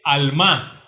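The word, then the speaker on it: עלמה: cual tradujera un virgen es alma alma acentuada en la en la segunda estrofa o en la segunda sílaba perdón alma qué significa literalmente doncella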